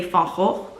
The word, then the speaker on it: Van Gogh: It's interesting because in Dutch, and we say Van Gogh and Van Gogh, was Dutch. So, but it seemed weird to pronounce it in the Dutch way when my video's in English, but that's how we say it in Dutch.